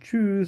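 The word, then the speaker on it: tschüss: বলে আমরা বলবো হচ্ছে যেহেতু ইউ এর উপরে উমলা উঠাচ্ছে এটাকে ইউ করে উচ্চারণ করা সেক্ষেত্রে আমরা বলবো চুজ একটু টেনে বলবো কিভাবে বলবো চুজ আবার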